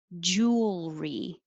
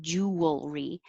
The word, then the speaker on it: jewelry: none pronoun pronunciation image jewelry it's almost three syllables but we don't make it clearly three syllables like jewelry jewelry make it shorter jewel